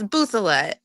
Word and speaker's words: Bouthilette: how are you hi so how do you pronounce your last name it's buet and I totally understand because I just married